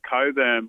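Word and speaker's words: Cockburn: with someone with the last name Coburn but it's spelled c c k b RN yeah which is more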